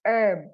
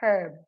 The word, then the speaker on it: herb: Like in this case, it's herb, not herb. So H is silently pronounced here.